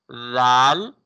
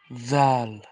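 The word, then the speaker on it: ذال: You cannot pronounce this letter with basal sound. Okay. So it should Mm-hmm. be pronounced softly, like Zal. Zal.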